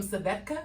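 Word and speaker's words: Svedka: It's Malibu, some Savetka, I think is how you say it. SVE. Not Savek.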